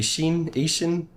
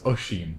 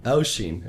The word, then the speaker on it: Oisín: It'd probably be Ishin. I don't know. It's close. Oisín. Oisín. Okay. Oisín, yeah.